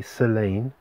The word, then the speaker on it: Tse'lane: s e apostrophe l-a-n-e so i think it's silent t selane so yeah that's the